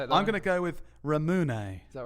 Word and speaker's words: Ramune: How do you say it, I'm going to go with Ramune. Is that right? How do you say it? Ramune. Oh, I wasn't so far off. Ramune.